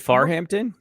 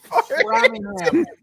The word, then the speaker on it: Framingham: So oh, is it Farhampton? it's Framingham.